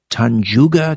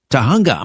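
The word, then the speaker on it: Tujunga: West of the Rockies, Christine is, I'm going to mispronounce this, forgive me, is it Tanjuga, California? Tahunga, my apologies, Tahunga, California.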